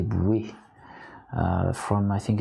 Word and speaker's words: Bois: You know, when I heard Nymphe des Bois, and it's pronounced Nymphe des Bouées, from I think it's Josquin des Prés, it's absolutely gorgeous.